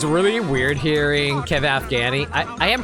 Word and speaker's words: Afghani: I will say this, it's really weird hearing Kevin Afghani. I am pronouncing his name right, Afghani? Yeah, Kevin Afghani.